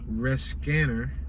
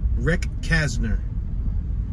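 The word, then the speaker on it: Recasner: music legend Fats Domino, Magic NBA player Eldridge Rescanner, or Rec Kanzer, or Kastner, I'm sorry. Let me repronounce his name because I think I just slaughtered his name.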